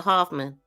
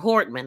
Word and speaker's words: Hortman: He next drove to the home of Speaker Emorita and Representative Hoffman of Melissa Hoffman or Hortman. I keep saying her name wrong.